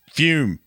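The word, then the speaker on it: Fūm: talking about our sponsor fume pronounced fume fum it's got a little Wiggly thing above the U and um loud yeah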